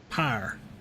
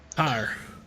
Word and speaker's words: Pyre: I'm gonna let Brian talk about Pyre. Pyre.